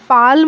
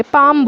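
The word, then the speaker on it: palm: half work proof बुड बुड हर जगह mail silent था पापा इसको हम बोलते हैं पाल नहीं बोलते पाम बोलते हैं नियर थे यहां पर भी एसिडिटी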